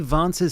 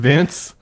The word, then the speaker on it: Vance: All right, now let's go to JD Vance's speech in Michigan, where he goes, I gotta stop doing it, it's so stupid. Vince?